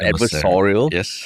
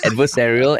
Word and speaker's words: adversarial: uh you know um saying it correctly Terrence as some people have pointed out not adversorial adversarial and almost detrimental to